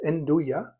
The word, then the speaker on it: nduja: All right, so nduja, this is nduja, spelled N-D-U-J-A, pronounced nduja.